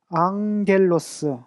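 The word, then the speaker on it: ἄγγελος: 로스, 앙겔로스. 감마 뒤에 요것이 오면 앞에 감마를 그러니까 이응 발음이 들어가는데 이렇게 앙겔로스.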